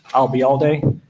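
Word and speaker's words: Ayalde: okay what was that if you uh remember the phrase I'll be here all day and drop it here I'll be all day you got it and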